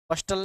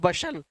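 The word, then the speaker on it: bustle: बस्टल नहीं होता, बसल तो मैं बोल रहा हूँ, बस्टल तो ठीक है, ताकि स्पेलिंग आपको याद रह सके। इसको बोलते हैं बशल, इसको बोलते हैं हसल।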